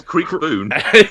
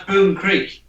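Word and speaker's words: Kriekboon: Right, be careful because bone is spelt boon. B-O-O-N. Creek, K-R-I-E-K-B-O-O-N. It says Creek Boon.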